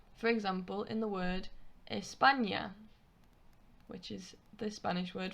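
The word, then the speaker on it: España: now the enya is pronounced exactly the same way as the first n in the english word onion the sound the onion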